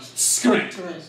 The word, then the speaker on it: skrent: And the final consonants of words are just dropped off, not scrimp, but skrent.